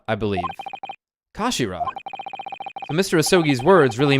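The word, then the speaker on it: 頭: end of the hilt it's written as head in Japanese but it's pronounced as Kashira I believe Kashira so Mr isogi's words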